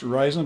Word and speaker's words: Ruixin: device it's a ryzen it's pronounced ryzen but it's spelled r u iix i